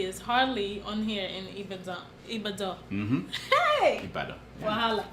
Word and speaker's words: Ibadan: is it Ibadan? It's Ibadan. Forget about how it's spelled. Yeah, it's Ibadan.